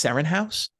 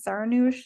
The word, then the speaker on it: Seranoush: yeah, Okay, I Seranoush. was always saying it's Serenhouse.